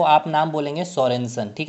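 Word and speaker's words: Sørensen: Discover अगर आपसे पूछ लिया जाए, यानी कि खोजकर्ता कौन है, आपसे ये पूछ लिया जाए, तो आप नाम बोलेंगे सोरेनसन।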